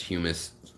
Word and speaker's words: humus: I know it is pronounced humus, Jeff. Thank you. I should make that different. Eat your humus, your hummus, not your humus.